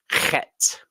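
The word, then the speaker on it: חית: Het means fence, and it's spelled Chet, C-H-E-T, but it's pronounced Het.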